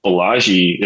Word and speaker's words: Balaji: the Fiat world and I think you know Balaji is that how you say his name right